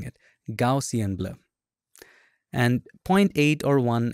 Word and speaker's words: Gaussian: little let's go to filter blur and then gausian goian I always have a hard time pronouncing it gaussian blur and 08 or one is fine 6